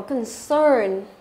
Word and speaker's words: concern: Tiếp theo chúng ta có concern. Concern, từ này là động từ này hoặc là danh từ này, nhưng mà trọng âm của nó đều rơi vào âm thứ hai hết.